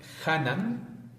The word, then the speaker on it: Hanan: Y Hanan, que es la verdadera forma de pronunciar, chac, Hanan, Ok.